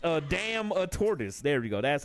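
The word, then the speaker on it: Adamantoise: I can't pronounce a dumbass name. Oh, it's a damn a tortoise.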